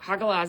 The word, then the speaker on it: Hagalaz: So, hagalaz is literally pronounced ha like laughing. Haha. Ha. And then ga g a and then las. L a h.